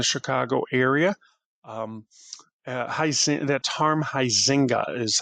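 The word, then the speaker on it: Huizenga: Um that's Harm Heisinga is how you pronounce that last name.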